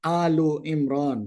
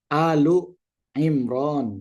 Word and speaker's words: Ali Imran: Ali kalau sendirian ya, Ali Imran itu dibacanya Au Imran ya. Au Imran tapi karena ada suratnya menjadi Ali Imran gitu. Itu kaidah bahasa ya. Kaidah bahasa. Jadi kalau aslinya itu Alu Imran ya.